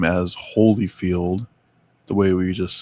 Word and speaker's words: Holyfield: While I have only ever heard his name as Holyfield the way we just said it, I have very strong memories of seeing it spelled Oh, come on.